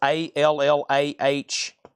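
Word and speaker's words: Allah-Las: the no bid here, Allahs is Allahlas. Allahlas. Allahs. All like all and then and then that's one word and then loss. LAS.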